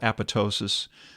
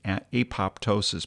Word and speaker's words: apoptosis: One is called apoptosis. That's the way the British say it. Some Americans say apoptosis, but it just doesn't flow.